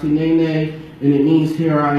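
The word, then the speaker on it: הנני: Hinene is pronounced Hinene, and it means "here I am," and it is most used when God personally calls someone to do something difficult and important.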